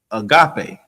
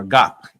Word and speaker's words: agape: And the translation for charity is agape. All right? Or agape.